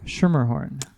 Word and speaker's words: Schermerhorn: Schermerhorn. It's not super difficult. You just drop the C at the beginning.